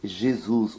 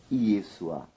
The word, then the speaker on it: Yeshua: diante do nosso público que este nome, de maneira alguma, se pronuncia do jeito Jesus ou Jesus, mas sim Yeshua.